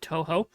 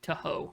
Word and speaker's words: Toho: a good working relationship with the people at Toho. Let me see. I hope I'm saying that right. I don't ever watch Godzilla media much, so I don't know if they say it like Toho or something.